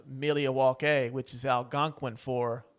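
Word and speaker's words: Milwaukee: have uh yes Pete it is actually it's pronounced milia walk which is Al gangin for the good land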